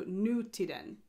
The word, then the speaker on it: Nutiden: And it's to be pronounced with kind of a separation and emphasis between nu and tiden or tiden. So Nutiden.